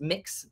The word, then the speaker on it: Mx: it's kind of a newish term and it's pronounced mix it's MX I think is a lot of